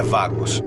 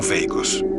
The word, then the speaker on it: Vagos: A pronúncia é vagos e não veicos. Ela vem da palavra espanhola vagabundo.